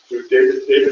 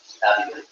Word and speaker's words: Davide: And I have some video, thanks to David. Am I pronouncing that anywhere near correctly? Davide. Try that again. Davide. Yes. Davide.